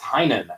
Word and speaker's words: Tynion: And my head kept telling me to say Tynion, and it's not. It is Tynion, actually. Tynion. There you go. It's not how it's spelled at all.